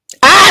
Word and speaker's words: Ai: I say you know AI in ancient days was not pronounced AI they did not phonetically break it down and say AI land of AI was pronounced the land of I just for your keep